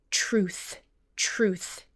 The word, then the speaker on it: truth: When you have TR at the beginning of a syllable, it often sounds almost like CHR, truth.